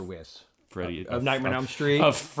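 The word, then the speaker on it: Wyss: girlfriend played by Amanda whis I believe that's how you pronounce it Weiss or whis Freddy of nightm Street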